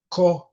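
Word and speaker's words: קהלת: The Hebrew name for the book is Cohel and let me spell it.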